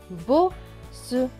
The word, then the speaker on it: bosse: Deux S qui se prononcent S et E. S et E. Se. Donc ce mot va se lire bosse.